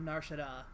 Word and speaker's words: Nar Shaddaa: Shouts out to that pronunciation of Nar Shaddaa. That's how I pronounce it.